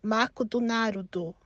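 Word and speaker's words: マクドナルド: bizarro é por exemplo McDonald's no Brasil e nos Estados Unidos se pronuncia bem parecido né agora aqui no Japão já se pronuncia mako do Naruto Então imagina você tendo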